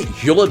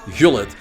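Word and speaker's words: Gullit: I must say Hullet by the way because I'm a Dutchman and you see Rut Hullet. That's actually how you pronounce his name.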